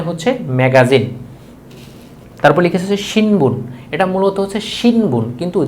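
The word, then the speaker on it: 新聞: তারপর লিখেছে হচ্ছে শিনবুন। এটা মূলত হচ্ছে শিনবুন, কিন্তু জাপানিজরা যখন এটা উচ্চারণ করে এটা হবে শিমবুন। এই নটার উচ্চারণ ম হবে, শিমবুন।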